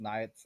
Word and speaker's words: Naietz: All right, so for the record, it's pronounced Naietz, and I came up with it because it's an anagram of my full name.